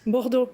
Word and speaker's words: Bordeaux: Bordeaux. It is Bordeaux, yes, with much better French pronunciation than me.